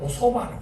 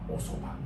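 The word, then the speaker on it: お蕎麦: 알 소박 매밀 국수 소박 앞에다 이걸 붙여서 오소바 읽습니다 오소바 오로도 읽고 지금 아까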